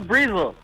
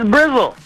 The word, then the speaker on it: Brizzle: Who the hell's Breezel? That's you. It's Brizzle.